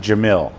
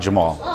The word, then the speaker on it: Jamiel: My name is pronounced Jamil, not Jamal.